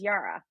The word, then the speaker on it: yirah: And the other is yirah, y i r a h.